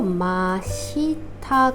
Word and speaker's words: 真下: 한자에 아래 하자를 써 주면은 바로 아래라는 뜻으로 마시타 되고요 얘는 뒤에다가 응도 들어가고 작은 츠가 들어가기로